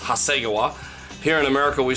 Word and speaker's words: Hasegawa: of my Japanese friends tell me that it's pronounced Hasegawa here in America we say Hasegawa at any rate this is a kit that's